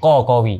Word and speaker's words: Qawi: Qawi. Dia ejaan dia QA. Ada yang tersilap pakai Qawi, tapi sebabkan nama aku Arab. So dia kena susun huruf Qa tu.